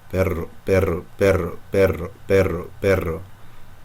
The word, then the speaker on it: perro: Try to take that D away from the roof of your mouth, and you'll get left with the double R. Perro, perro, perro, perro, perro, perro.